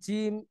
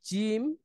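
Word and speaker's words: ج: তারপর হচ্ছে জিম, শিন, ইয়া, এই তিনটা হচ্ছে জিহ্বার আম, মধ্যখান থেকে তার বরাবর উপরে তালুর সাথে লাগিয়ে আমরা এটা উচ্চারণ করতে পারি। আহ, জিম, শিন, ইয়া।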